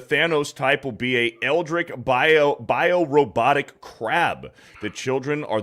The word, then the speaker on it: eldritch: It's pronounced Eldritch, by the way.